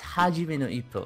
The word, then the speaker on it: Hajime no Ippo: Yeah, but Hajime no Ippo, did I pronounce it right? Yes, Hajime no Ippo.